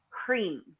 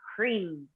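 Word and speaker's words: hrim: visual mantra which is cream and it's spelled H R I M but it's pronounced as though it's written HR EE M cream and so I'm reading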